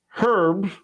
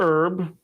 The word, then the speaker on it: herb: days then we got magic herb or herb depending on how you do it spelled the same way either